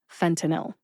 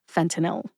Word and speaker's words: fentanyl: differently for the record the correct pronunciation is fenel three syllables fentanyl now that you know